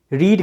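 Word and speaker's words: read: रीड का pronunciation वहां पे रेड हो जाता है थर्ड में, तो वो देखिए, आई हैव रेड।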